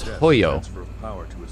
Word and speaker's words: Hojo: head of biochemical research Hojo hoyo his correct name pronunciation is hoyo transfer of power to